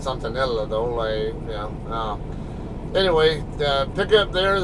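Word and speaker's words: Santa Nella: It's up between, it's about halfway between Kettleman City and Santanella. Or Santanella, if you pronounce it the Spanish way. I always call it Santanella, though.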